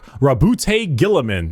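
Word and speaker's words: Roboute Guilliman: Primark Rabbout Gillaman.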